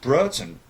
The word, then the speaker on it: Broughton: understand if if you're Brighton Richard Hughes it's pronounced Broughton I've always brausen boomed four in a row